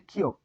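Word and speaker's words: 키읔: এই মাঝে একটা টান দিলে হবে, এটি হচ্ছে খিয়ক। খিয়ক খিয়ক কি হবে? খিয়ক। এটি হবে খিয়ক। এটি হবে খিয়ক। খিয়কের উচ্চারণ খ, প্রথম স্টপে খ, দ্বিতীয় স্টপেও খ, এবং তৃতীয় স্টপে ক হবে। ঠিক আছে।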